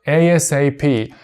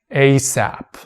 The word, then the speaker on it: ASAP: In a formal context, we pronounce it like ASAP, but when it comes to informal context, we can pronounce it ASAP.